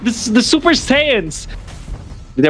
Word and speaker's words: Saiyans: This is like the Super Saiyans. Did I pronounce it correctly? The Super Saiyans. Yes. Or Saiyajins, whatever.